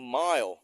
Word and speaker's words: mile: เนี่ย milestone คำ ว่า ไมล นะ ออก เสียง mil M ไม่ ไม นะ คน ไทย อะไร ก็